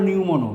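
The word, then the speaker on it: pneumono: ঠিক আছে লাং হলো নিউমোনো পিউ উচ্চারণ হবে না পালমোনারি সেন্সুয়াল পেজ আর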